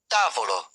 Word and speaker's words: tavolo: Most Italian words have stress on the second-to-last syllable. Examples: tavolo, t i a v o l o, table amico, a m i c o, friend Due, antepenultimate stress.